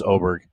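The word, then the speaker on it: Åberg: No, it's Oberg. I think that's right. I've heard it pronounced that way, too. Even though it looks like Aberg. A B E RG is Oberg. Asking the wrong person.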